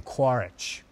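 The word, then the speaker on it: Quaritch: no less than that his name quarrich rhymes with war he's got an itch for war it's quarrel it's everything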